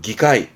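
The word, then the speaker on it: 議会: 발음은 기카이.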